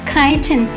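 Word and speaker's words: chitin: Although the squids lack exterior shells, they have a vestigial shell inside made of kiton, which is spelled C H I T I N.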